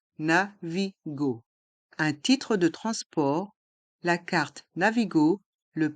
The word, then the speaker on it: transport: carte Navigo le Pass Navigo dans le mot transport les lettres a et n se prononcent en France France port et le thé